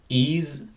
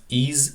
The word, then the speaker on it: EES: the Engineering Equation Solver Al also known as ease it pronounced as ease so we're going to open the e software